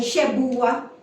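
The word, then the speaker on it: שבועה: ne verb or noun sa oath ang ginamit ay sebua ang pronunciation niya ay cebua And it can refer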